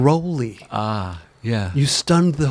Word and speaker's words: Rowley: stunned the world when you said that you pronounced your name Ry ah yeah you stunned the whole world everybody in that said rowy wellow I mean when do you get the